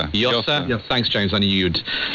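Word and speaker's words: Llosa: Uh, we heard from the giant of Latin American literature, novelist Mario Vargas Loa. Yasa. Yosa.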